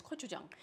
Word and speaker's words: gochujang: It's spelled, starts with a G, but pronounced with a K. So when you're saying this in front of other people, you can sound really sophisticated. It's gochujang.